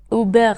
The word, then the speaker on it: Hubert: بود و اسم همسرش هیوبرت بود بچه‌ها خیلی جالبه که فرانسویا هیوبرت رو اوبغ تلفظ می‌کنن واقعاً من تا مدت‌ها